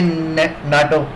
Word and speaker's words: NATO: जैसे यहाँ पे एग्जांपल दिया नाटो, NATO, north Atlantic treaty organisation, इसको हम बोलते हैं नेटो, नाटो।